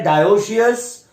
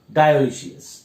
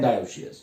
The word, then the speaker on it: dioecious: Actually pronunciation है डायोशियस, मोनोशियस. ठीक. बट हमें उसके स्पेलिंग्स के लिए ध्यान रखना पड़ेगा, जिसके वजह से हमें यहां पर ई ऐड करना पड़ रहा है. देखो, इसलिए हम लोग थोड़ा सा बोल रहे हैं ऐसे करके मोनोइशियस और डायोशियस. ठीक. But actual pronunciation is मोनोशियस एंड डायोशियस.